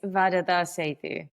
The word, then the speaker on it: Varada: correctly pronounce that because I am terrible with pronunciations. Um it's vada.